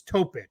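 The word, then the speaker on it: Topić: Isaiah Collier, it's Topic. So you say it kind of like Jokic. Okay. That one. I know it's spelled Topic, but it's one of those accents on the C.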